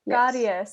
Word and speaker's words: caries: Caries. So in English, again, we like to merge the sounds. It's caries, but we pronounce every single vowel in Spanish, so it's caries.